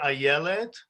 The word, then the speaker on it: Ayelet: My sister Ayelet. The way you pronounce it is I don't say it, I yell it. This is how you remember it.